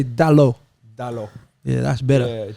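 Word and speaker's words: Dalot: Say his name properly, cuz. Come on, say it for me. What's his first name? You say his first name. Diego. Huh? Diego. Yeah, now say Dalo.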